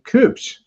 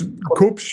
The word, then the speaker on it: Kubsch: of your screen is a gentleman named Sebastian Cooch. Am I pronouncing that correctly? Yes. Cooch. It's Koops.